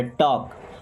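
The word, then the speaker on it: talk: Don't टॉक, देखिए टॉक में एल होता है साइलेंट, टॉक नहीं पड़ा, टॉक।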